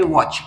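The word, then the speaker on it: watch: पहिल जे एक्झाम्पल आहे ते आहे वॉच आणि वॉच या शब्दाचे वाचन करत असताना व च अशा प्रकारे करायचा आहे आणि आपला नियम काय सांगतो आपल्याला कीटी नंतर जर सी येत असेल तरटी हा सायलेंट ठेवायचा आहे आणि सी चा उच्चार फक्त च असा करायचा आहे म्हणजे व च अशा प्रकारे याच वाचन होणार आहे लक्षात घ्या त्याच्यानंतर आहे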